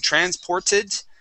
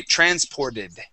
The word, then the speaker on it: transported: Okay, and if we add an ED ending to the end of that word, we can change the pronunciation of that T to a D. So instead of saying transported and pronouncing a T there, we would say transported. Okay, you see how that changes to a D?